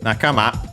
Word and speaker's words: nakama: Nakama is technically a compound from nakama. Globally is an accent on the last syllable, but it comes from naka.